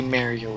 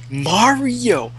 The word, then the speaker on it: Mario: an accent thing some people like from California will say Mario it's weird it's wrong too like if you watch it anything official Nintendo they say Mario not Mario it's like OCD it's like say it correctly I'm gonna have fun